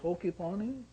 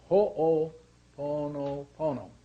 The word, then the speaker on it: Ho'oponopono: he said, how do you say, is it Hokiponi?